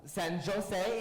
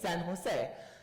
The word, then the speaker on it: San Jose: Castilian Spanish is pronounced very different than English. Barcelona is Barcelona. San Jose is San Jose.